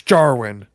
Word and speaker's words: Djarin: His name's not Din, it's Jarwin. Yeah. The D is silent.